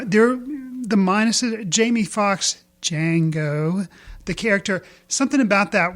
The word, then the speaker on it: Django: For some reason, even though they bring it out in the movie that it is Django, the D is silent.